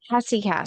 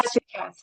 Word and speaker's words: Hesychast: Hesychast Hesychast, yeah.